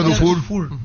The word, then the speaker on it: Dufour: es eh Matías dufur se pronuncia correctamente por lo que dijo el señor PR dufur no suena es dufour se escribe pero se pronuncia dufur exactamente así así tambén